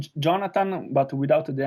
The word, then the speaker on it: Gionata: How do you exactly do you pronounce your name again? Jonathan Medeot. Jonathan. Okay, so it's got Uh, that nice accent in there, which is pretty Yeah, cool. it's like Jonathan, but without the N at the end.